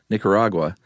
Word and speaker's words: Nicaragua: Nicaragua.